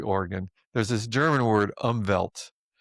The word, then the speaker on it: Umwelt: There's this German word, Umwelt, which is spelt with a V because with a W,